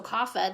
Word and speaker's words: kapha: last type third type here is kava so kapha this is spelled ke a PHA so if I read